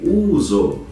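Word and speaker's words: ούζο: que é o uso escreve em grego uso e pronuncia-se uso de cor transparente feita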